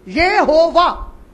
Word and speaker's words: Yehovah: U is pronounced as V, Yehovah.